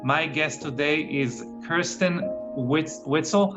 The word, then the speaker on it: Weitzel: biohacking beauty podcast my guest today is kirsten whitsell how do you say your last name it's kristen white's all right weissel yeah and uh kristen is